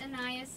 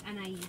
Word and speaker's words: Anais: It's Anais in the English language, but in French it's Anais.